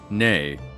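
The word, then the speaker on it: née: Ne. It's ne, right? Like, how do you pronounce it? N-E-E. The N-E-E. Adjectives? Nay.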